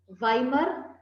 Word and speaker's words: Weimar: It is pronounced as Weimar Republic.